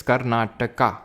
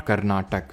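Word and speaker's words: Karnataka: होते हैं ठीक है सर इट्स कर्नाटका नॉट कना नाटक so please pronounce it एज कर्नाटका okay Umesh पानी जी एज यू से कर्नाटका okay not कर्नाटक alright silent valley national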